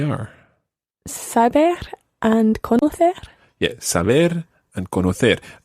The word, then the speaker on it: saber: Yeah, saber and conocer. All the infinitives always are stressed on that last syllable. So it's saber, conocer.